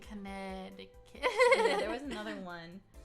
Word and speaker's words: Connecticut: They don't pronounce the C. Connecticut.